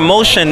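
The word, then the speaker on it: Moshion: The whole idea was to take that's what Motion, though it's spelled M-O-S-H-I-O-N, that's the fashion part of it, was about having no feet on the ground.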